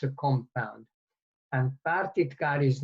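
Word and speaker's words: pártitkár: it's a compound and partitgar is normally pronounced with one t even though they come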